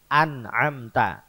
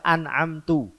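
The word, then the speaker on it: أنعمت: Lah kok bacanya an'amtu? Jalannya orang-orang yang telah saya beri nikmat. Ini kan maknanya beda jauh. Nah ini yang mestinya dibaca ta, kok dibaca tu.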